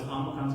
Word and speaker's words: Omicron: I wanted to say it like O, but the way I was taught it was Omicron's going to be ah sound. Omicron's going to be ah. Okay? Ah. Almost like father, right?